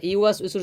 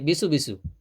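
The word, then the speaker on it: يُوَسْوِسُ: অনেকে আছে তো ইউয়াস উইসুর জায়গা পড়ে বিসু বিসু। হ্যাঁ, বিসু বিসু তো কোনো শব্দ নাই। অনেকে আবার পরে ইউয়াস উইসু টান দেয় না, ইউ। আবার অনেকে ইউয়াস উইসু, না, ইউ করে টান দেওয়ার সুযোগ নেই।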